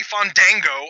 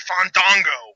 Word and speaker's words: Fandango: I didn't say Fandango. I said Fandango.